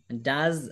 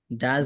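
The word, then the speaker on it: does: কি বিক্রি করে ডাজ Raihan sell ডাজ Raihan sell ডাজ Raihan sell ডাজটা আগে চলে আসবে ডাজ রায়হান সেল চলে আসবে আচ্ছা এখানে ডোজ না উচ্চারণটা হবে কি ডাজ ডাজ ডাজ ডাজ বলেন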